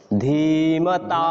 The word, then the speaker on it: ধীমতা: বুঝতে পারবেন এর পার্থক্য ধীমাতা ধীর্ঘ ইকার এজন্য ধীমতা ঠিক এইভাবে উচ্চারণ করতে হবে তো এগুলোকে আলাদা করা